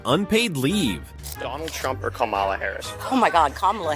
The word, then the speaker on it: Kamala: Well, it's like the Kamala rhetoric. Her name is Kamala, actually. Kamala, right? No, it's Kamala, right. Like my sign. Kamala. La. Oh, I didn't know it was spelled with a comma in it.